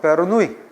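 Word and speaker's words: Bernoulli: 베르노리 스펠링 해올 때는 독일식 발음이 제일 좋아요. 베르노우 베르노울리 베르노울리 식의 기본 가족을 옳지 않은 것은 본토 발음 베르누이 그래서 옳지 않은 것은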